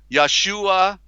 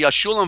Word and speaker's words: Yeshua: into the Promised Land Yahshua who was correctly Yeshua Limbaugh and Caleb who